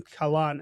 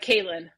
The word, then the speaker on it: Kalan: about you obviously I got your name Khalan. I don't know if I'm saying it right. Uh Kalin. Kalin.